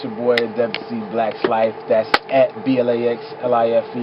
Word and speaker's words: Adebisi: Traditionally, the name is pronounced Adebisi. That's Ade, not Ade.